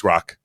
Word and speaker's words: Grok: It's not Gronk, because we discovered last week. I think it's Grok. Grok. Yeah, Grok.